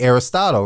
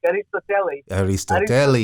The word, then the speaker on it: Aristoteles: You call it because most would say Aristotle, right? And how did you say his name? Right, I said in Greek, Aristoteles, and that's why they call him Telly.